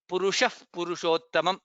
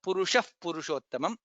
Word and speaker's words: पुरुषः पुरुषोत्तमम्: Purushah Purushottamam. That's how it is pronounced because Visarga followed by Pakara. Purushah Purushottamam.